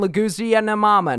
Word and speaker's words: Leguizamo: That's where Bob Hoskins and John Leguizamo know. How do you say his name? What? Got it, baby. How do you say it? Leguizamo.